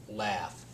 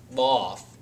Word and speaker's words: laugh: And there's one example of a word that has the A-U, but is pronounced laugh, not loft. Laugh. You have a short A sound in that, so that doesn't really